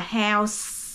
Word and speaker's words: house: chậm một chút mà phát âm hết những cái từ cuối ra giống như Cái nhà là house là có chữ S ở cuối thì mình phải có âm ra thì nó mới hiểu nó chậm một chút